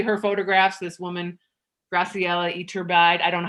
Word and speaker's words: Iturbide: So it's like basically her photographs, this woman, Graciela Iturbide. I don't know how to say her last name. I'll probably be the first to say. Cole, how do I pronounce that? Iturbide.